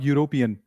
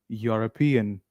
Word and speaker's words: European: All right, everybody, not European. It is European.